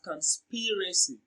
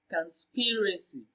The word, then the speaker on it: conspiracy: so conspiracy is pronounced and broken down into syllables as conspiracy conspiracy so the second syllable speed receives the stress